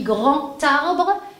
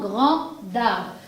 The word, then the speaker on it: grand arbre: Quand le D, je le mets en liaison, je le prononce comme un T et non comme un D. Donc là, je lis grand arbre et non grand d'arbre.